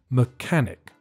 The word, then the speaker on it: mechanic: the answer is mechanic the pronunciation is not very difficult but the first syllable is weak and there's a silent h mechanic right there you have